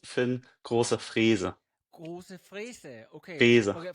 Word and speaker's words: Große-Freese: Yeah, and it's pronounced Finn Grosse-Freese.